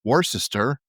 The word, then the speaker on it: Worcester: By the way, it's not spelled Worcester, in case you've ever wanted to know. It's spelled Worcester or Worcester, but they call it Worcester.